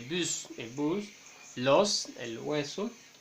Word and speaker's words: bus: Il y a des exceptions, bien, on va prononcer les bus, que pronunciamos la S final, les bus, el bus, los, el